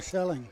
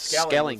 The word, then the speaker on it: Skelling: Skelling it or Selling? It's Skelling. Skelling.